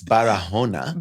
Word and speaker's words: Barahona: But you don't even say the H in Spanish. No, say you it say properly. Barahona.